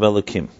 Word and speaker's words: Elokim: with the punctuation of elokim when you write havaya sometimes you pronounce it elo kim even though it's the